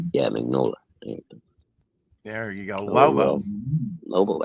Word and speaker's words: Mignola: Mike Mignogna. Did I say his name? Mignola. There we go. Yeah, Mignola.